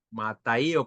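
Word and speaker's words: ματαιόω: Aquí la palabra se envanecieron es del griego mataío con acento en la O.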